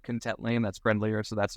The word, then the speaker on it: Contently: Is that originally it's pronounced Contently. Everyone said Contently, and that's friendlier, so that's what we went with.